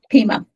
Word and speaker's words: Pima: And how is Pima or Pima? Pima. Okay. Thank you.